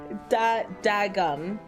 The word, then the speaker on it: dadgum: It's spelled with a D. Dadgum. Bruh. Yeah, but I've never said it. Daggum fucking yeah, okay.